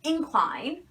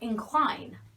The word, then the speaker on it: incline: It could be incline or incline.